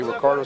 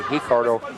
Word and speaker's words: Ricardo: leg there by Ricardo sometimes you're going to hear boss say Ricardo sometimes I will say hi cardo in Brazil they pronounce the uh words to begin with an R with an H sound gra and hioa from